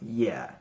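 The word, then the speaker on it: 也: component is a character by itself, and it's pronounced ye, meaning also.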